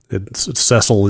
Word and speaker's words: Cecil: Cecil is the canonical pronunciation.